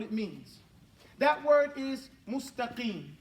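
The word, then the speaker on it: مستقيم: Now, first of all, we say it wrong. We say it like this. Let me erase this board. We say this, mustaqim. That's how we say it. Say that. Mustaqim. This is wrong. Arabic doesn't speak that way.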